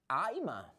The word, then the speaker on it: I'ma: It's, I'ma go home. Are you listening? Oh my God, it's so ridiculous, right? I'ma go home. What? What is the pronunciation? Listen, guys. Aima.